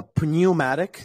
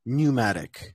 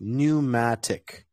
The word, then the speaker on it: pneumatic: ooh so for example this is not uh premiumatic this is pneumatic so just pneumatic pneumatic uh and this is